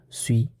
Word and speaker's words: suis: It's like English I, and the corresponding conjugation is suis. And we have noticed that the letter in the end does not pronounce.